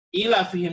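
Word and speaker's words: إِيلَافِهِمْ: pada ayat kedua ya ilafihim bukan pada ilafi curafix tapi ilafihim ilafihim disitu sama sekali tidak tertulis padanya ya tapi di sana ada pengucapan huruf ya ilafihim bisa diperhatikan diet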